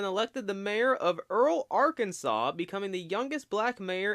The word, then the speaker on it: Arkansas: Kansas? Arkansas? It's Arkansas.